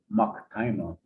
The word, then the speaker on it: Maktima: And Hopi on my father's side, that's the name Maktima, that's what that comes from. That's how it's phonetically pronounced, Maktima.